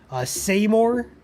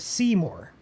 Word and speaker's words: Seymour: Seymour, like saying more, but people also call it Seymour.